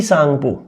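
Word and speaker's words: Tsangpo: है दोस्तों, यहाँ पे इसको बोला जाता है टी सांगपो, टी साइलेंट रह जाता है, और सांगपो इसको बोला जाता है।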